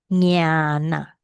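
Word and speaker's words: ñāṇa: How do you pronounce this? Jnana.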